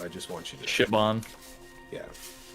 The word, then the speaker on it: Siobhan: By the way, your mom's name is Siobhan, but it's spelled the Irish way. So I just want you to. Shibon.